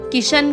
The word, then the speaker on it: कृष्ण: उन्होंने कहा कि ब्रज में ण का स्थान न से बदल दिया जाता है, जैसे कृष्ण को किशन कहा जाता है।